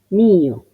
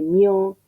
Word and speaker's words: mio: tuo, mío, suo, y uno a veces ve esa I, ve esa U y presupone que es un diptongo, entonces tiende a decir mio, suo, tuo, y para nada es así.